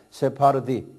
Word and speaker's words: 세파르디: 우리 세파드게 있죠? 그 비슷하게 발음하면 세파르디.